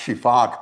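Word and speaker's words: sifaka: This is a Barrow's shifac. It's pronounced shifac because that's what their call sounds like.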